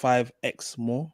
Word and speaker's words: 5X More: And it's pronounced 5X More. So if you're looking for them, it's 5X More.